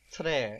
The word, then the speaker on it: tre: So the word for very is tre, and it's spelled T-R-E, tre, tre.